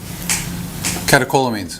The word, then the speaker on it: catecholamines: Catecholamines.